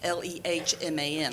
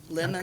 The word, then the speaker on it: Lehman: It's Lehman. I get Lehman, Lemon.